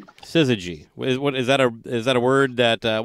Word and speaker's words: syzygy: That 3-song EP, how do you pronounce it? That Syzygy. Syzygy.